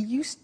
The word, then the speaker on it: used: He used to give only dogs, and he used to eat Italian cake at Christmas. Now, this verb, used to, well, it's written U-S-E-D, but the pronunciation is used, and we'll see that on the screen later.